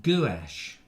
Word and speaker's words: gouache: Colonel Craigrate says it's pronounced gouache.